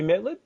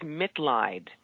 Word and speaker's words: Mitleid: the last word is MIT lied it's actually a german word it means compassion it's a chosen last main last name to remind me why I do what I do so MIT lied it'll be lit laughter